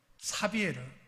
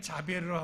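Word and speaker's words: Xavier: 그런데 그 중에 예수회를 7분의 신부들이 함께 만들었는데, 그 중에 그 창립 멤버였던 사비에르, 카톨릭에는 자비에르라고 하고 요새는 이게 이제 스페인 포르투갈 발음이기 때문에 하비에르라는 말을 씁니다.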